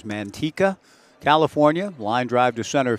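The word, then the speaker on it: Manteca: College out of now I've never actually been called upon to pronounce the name of the town but I've got it as Mantika California line drive to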